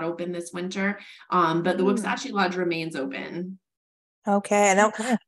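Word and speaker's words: Wuksachi: See, you needed to pronounce it. Yes, Wuxachi.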